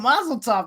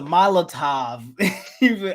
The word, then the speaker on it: Molotov: It's a Mazel Tov cocktail. That's what it's called. No, but it's a Molotov.